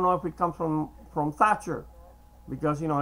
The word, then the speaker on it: Thatcher: Thatcher, because, you know, in Spanish, we don't pronounce the th, the TH sound. So if your name will happen to be Thatcher, and we would not even pronounce the T in the middle, so it wouldn't sound like, to somebody who speaks Spanish, the name Margaret Thatcher actually sounds like Margaret Thatcher.